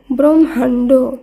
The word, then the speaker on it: ব্রহ্মাণ্ড: একইভাবে বয়রফলা হয় ময় আকার মূর্ধন্যয় ড এই শব্দটির উচ্চারণ হবে ব্রহ্মাণ্ড, ব্রহ্মাণ্ড।